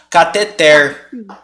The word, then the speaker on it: cateter: de dizer que ela seria uma paroxítona terminada em R Aí teria que ter assento mas eu jurava que tinha ela não tem E aí se ela não tem em nenhuma das outras a pronúncia então é aqui sobrar ela tem que ser uma oxítona tá bom cateter fechado Mas você não vai